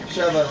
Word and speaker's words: Sheva: Sheva.